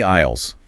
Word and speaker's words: aisle: Over time, English speakers just stopped saying the S, but they kept the old spelling. So the spelling is like a ghost. It is a ghost from the French language. That is a fun way to look at it. Yes, a ghost letter.